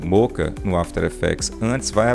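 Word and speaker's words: Mocha: Boris effects, moca, tá? É assim que se pronuncia mesmo, moca, tá?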